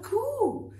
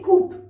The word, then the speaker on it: coup: A coup. My gosh, what a coup. Which means, you don't say coup, please.